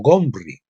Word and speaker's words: Omri: de samaria El Rey omri en aquellos días el nombre de este Rey en realidad era pronunciado como gomer o gomri los los asirios que